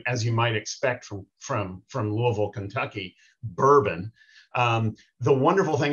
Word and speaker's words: Louisville: He is based in Louisville, Kentucky, and he would be horribly embarrassed to hear me say that because he explains that it is pronounced Louisville. It is not Louisville, it's Louisville.